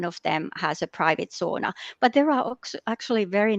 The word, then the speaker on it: sauna: the word Sona or sauna as we pronounce it in Finnish but not so many